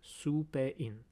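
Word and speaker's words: スペイン: And in my code, I associated this sound su with the country Spain, because in Japanese, you pronounce it su-pe-in.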